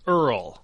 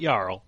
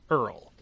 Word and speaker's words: Earl: He's the Earl, not Yarl. Earl.